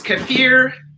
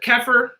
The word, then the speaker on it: kefir: just so you know the correct way to say that from what I understand is kefir but that doesn't fall out